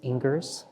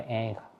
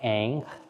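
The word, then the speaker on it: Ingres: Ang some people might read his name and pronounce it as ingr which is incorrect but this little sketch by Ang I love so much we're very familiar with uh this painting by Ang this is not the the finished version this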